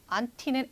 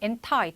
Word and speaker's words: anti: anti는 anti 또는 anti 이렇게 발음이 되는데 그거는 반대의라는 뜻이죠.